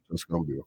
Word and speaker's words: Tuscaloosa: Was it Tuscaloosa? Tuscaloosa.